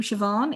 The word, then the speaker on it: Siobhan: actually uh c-o-b-h uh the bh like my name siobhan is pronounced like a v an irish and its former name